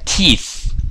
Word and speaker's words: teeth: 여러 개, 여러 개는 teeth. teeth. teeth. teeth. 그쵸. 이거 발음 잘해야 돼요.